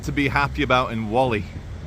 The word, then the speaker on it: Whalley: What have they got to be happy about in Whalley? They pronounce it Whalley, like war. War, civil war. No, it's Whalley.